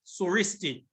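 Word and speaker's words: Συριστί: tar and iota and it is pronounced suristi s-y-r-i-s-t-i and this is the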